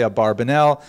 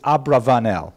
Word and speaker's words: Abravanel: to a yeshiva, they'll say Abarbanel. There's a popular song, Abarbanel. Ba ba ba, Abarbanel. You've heard it. But the probably correct, I'm following Netanyahu here, probably correct is Abravanel. That's probably how he pronounced it, more or less, with my Canadian accent.